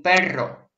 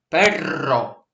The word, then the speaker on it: perro: Un gato y un perro. Вот в испанском две сдвоенные гласные произносятся именно долго. Perro, perro.